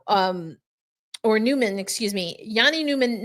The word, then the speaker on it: Jani Nyman: that on yesterday's episode got the proper pronunciation Yanni Newman with his family in